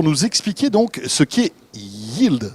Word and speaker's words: Yeeld: C'est déjà comme ça qu'on prononce ? Absolument. Et c'est Voilà. déjà une première difficulté. Voilà, vous avez, on n'a pas que tout faux. Hein. Sur Exactement. Yield, on est bon. Y-E-E-L-D. Absolument. Alors, qu'est-ce que c'est ?